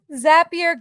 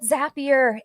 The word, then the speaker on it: Zapier: So Zapier goes to Zion. It's perfect. So if you're unfamiliar with Zapier, it is pronounced like happier.